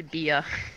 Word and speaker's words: Bia: Because my name's actually Bia, not Baya. I'm sorry. No, it's okay. As in, by the way. Or as in, by a sense of humor.